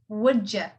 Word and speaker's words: would you: so anyhow would you you would say pronounce it as wouldja wouldja and since it's an